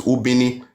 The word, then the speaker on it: Ubini: So they had to mispronounce it as Benin, but it's Ubini.